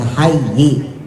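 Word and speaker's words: حيّ: Nah, itu tulisannya hayyi tapi dibacanya hay ya.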